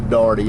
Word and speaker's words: Dougherty: Pronounced by the locals as D-A-R-T-Y, Darty.